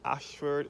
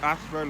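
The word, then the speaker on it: Ayshford: This Ashford is spelled A-Y-S-H-F-O-R-D.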